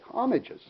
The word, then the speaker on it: homage: Okay, homages. What an homage is, it's spelled homage, but the H is silent, is when you draw